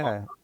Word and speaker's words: Ponton: You have another project that I don't think we've touched on, and I might I might butcher the name, Ponton? Ponton? Ponton. We we call it Ponton.